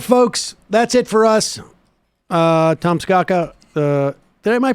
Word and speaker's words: Tom Scocca: that's it for us Tomsk akka that my pronouncing your name let's go go let's go come no no Scott Rogers Lee Iacocca Thomas go cat it's sort of rhymes with Lee Iacocca it does I knew